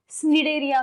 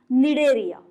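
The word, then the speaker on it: Cnidaria: क्यों बोल रहे हैं, स्निडेरिया क्यों नहीं बोल रहे हैं, क्योंकि यहाँ पे जो सी है यहाँ पे वो साइलेंट है, इसलिए प्रोनाउंस करते वक्त हम इसे कैसे प्रोनाउंस करेंगे? निडेरिया.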